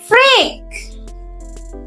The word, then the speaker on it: freak: No, it's freak. ই এ এখানে sound দিবে ই, long E for eek, freak.